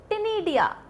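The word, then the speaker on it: ctenidia: टिनिडिया। क्या? टिनिडिया। मैम सी तो बोला नहीं, अरे सी साइलेंट है यार, सी साइलेंट है।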